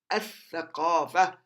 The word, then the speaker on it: الثقافة: All right, so the first, at-tawbah, at-tawbah, الثقافة, الثقافة, الثقافة, the culture. الثقافة, the culture. You don't pronounce the lam. الثقافة, you drop the lam.